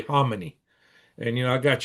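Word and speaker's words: Khamenei: death of homonyy and that's the way I understand the correct pronunciation is I always say clmanian I hear that all the time but I've heard some Iranians say homonyy and you know I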